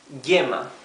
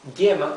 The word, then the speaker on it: yema: The letter Y in its second pronunciation, when it's followed by a vowel, many times it confuses many people, even Spanish speakers, because it has the same pronunciation as the double L, okay? So here we have to know that this yema is written with Y and not with double L, because the pronunciation would be the same one, right?